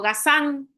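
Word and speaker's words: Gazin: Hay un vino, un viñedo que está enfente de Petruz que se llamó Cható Gasán. Gasin se escribe.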